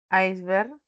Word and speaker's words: iceberg: Este es el gigantesco iceberg que se desprendió de la Antártida. Este es el gigantesco. Acá ya saben que los demostrativos no llevan tilde, ¿no? Ni como pronombre ni como determinante. Esta palabra iceberg, que viene del inglés, ¿no?